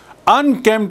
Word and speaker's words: unkempt: Unkempt, I told you, astavyast. Astavyast, unkempt. You note the spelling. U-N-K-E-M-P-T. P is silent.